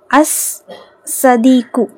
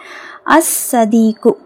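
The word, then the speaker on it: الصادق: base ஓகேங்களா அல்வஜுஹு next அஸ் சதிக்கு அஸ் சதிக்கு சாது என்னது ஷம்சியோட எழுது அதனால லாம் உச்சரிக்கப்படல அசதிக்கு ஓகேங்களா நெக்ஸ்ட் அல் குர் குர்ஆனு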